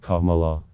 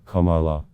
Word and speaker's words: Kamala: just disrespectful it's racist harrah's first name is pronounced kamala her as she explains in her biography a